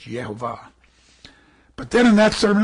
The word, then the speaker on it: Yehovah: There's no J in Hebrew, so it's Yehovah.